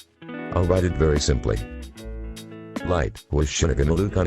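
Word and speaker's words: 月: of death note together lighty agony this boy is the main character write moon and chinese characters and pronounce it light he is the main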